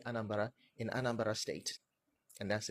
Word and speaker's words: Anambra: So I come to the realization that the place is called Anambra, as in Anasarambara. And to say it like the locals, it's Anambra.